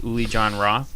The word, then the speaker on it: Uli Jon Roth: And performing tonight here is Uli Jon Roth. Did I get the pronunciation of that right?